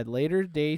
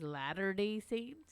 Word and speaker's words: Latter-day Saints: drought conditions reveal a ghost town settled by later Day Saint as means Mormon uh Pioneers that had been underwater for years supposed to say aren't you supposed to pronounce it as Latter-Day Saints that's what I said though you said later